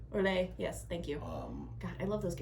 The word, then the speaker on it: Orlais: we've never had Orlege. Orlais, yes, thank you. God, I love those games, but I can never pronounce their...